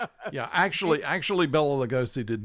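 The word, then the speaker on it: Béla: believe that he was Bella Losce which by the way is his name would have been pronounced Baya.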